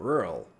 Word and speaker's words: rural: Rural.